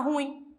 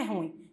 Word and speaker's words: ruim: ruim fez outra mas o correto é ruim porque porque é um desfila Boo oxítono só que a gente pronuncia como como se fosse um monossílabo a gente pronuncia como se essa palavra tivesse uma única sílaba a gente fala ruim mas não é ruim é ruim ah então nunca mais